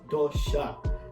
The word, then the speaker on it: dosa: onion rava basala but the correct pronunciation is dosha and dosha is basically